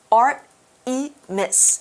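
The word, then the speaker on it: Art3mis: Yes, we could say Artemis because she's got that 3 backwards like an E. So we should say Artemis? Artemis is probably how you say it out loud.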